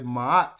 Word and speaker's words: Ma'at: So that sickle is just a way to pronounce the consonant or the sound ma. But if you put a T after it, it's gonna say ma'at. Ma'at.